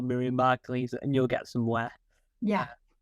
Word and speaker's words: Margolyes: Because I'll probably even mispronounce the last name because it sounds like I'm saying the word leaves at the end. The way you remember it is it's yes at the end. Margol, yes.